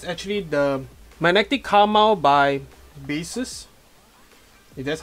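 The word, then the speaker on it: Baseus: series here is actually the magnetic karma by basis that's how it's pronounced and so G report of course there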